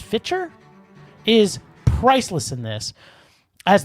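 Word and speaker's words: Fichtner: with Doo's character either but William is itel pronounced fiter is priceless in this as the cop who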